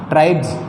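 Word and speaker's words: tribes: अब देखो इस BE के बाद में ये एस है, इस एस का उच्चारण क्या होगा, जय होगा। यानी हम इसको क्या पढ़ेंगे, ट्राइब्स, ट्राइब्स पढ़ेंगे, ट्राइब्स यानी जनजातियाँ।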